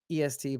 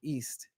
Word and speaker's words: est: Dave, it's not EST, but like East. But S, don't pronounce the T.